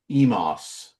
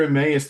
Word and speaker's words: Emmaus: But so of course, how are the people in this video trying to say it? Emos. Yeah, and to be fair, that's a completely fair way to look at that word and pronounce it if you have no idea how it's supposed to be pronounced.